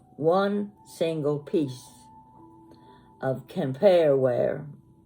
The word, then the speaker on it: Quimper: have never bought one sing single piece of compare Weare it's spelled like quimper Qi m p r but it's pronounced campare Weare from France it's handmade and every piece